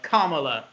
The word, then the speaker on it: Kamala: So she dropped out, and one would have thought that's pretty much it for Kamala Harris, as we've been told to is the correct pronunciation.